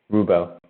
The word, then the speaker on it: RwBo: Oh yeah, Rubo. That's how you pronounce it.